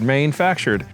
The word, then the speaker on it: Mainefactured: I'm not pronouncing it right, but it's if you spell it or read it, it's Maine, the state of Maine, my home state. Factured. Maine factured.